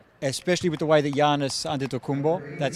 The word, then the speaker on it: Giannis Antetokounmpo: especially with the way that Giannis Antetokounmpo, that's how you pronounce it, Which I get wrong all the time.